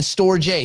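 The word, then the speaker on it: Storj: The company's pronounced storage, stupid. The token is Store J because there's no AGE, is there?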